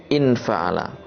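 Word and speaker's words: انفعل: Mislun fa'ala, contohnya adalah in fa'ala. Jadi ini hamzahnya hamzah wasol. Kalau kita baca lanjut seperti ini, mislun fa'ala. Tapi kalau kita baca sendiri tanpa diikutkan dengan kalimat sebelumnya, kita bacanya adalah in fa'ala.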